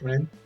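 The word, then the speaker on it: 蓮: Well, it's like one of them saying it's Hasu and the other saying it's Ren, but there's just two ways to pronounce it.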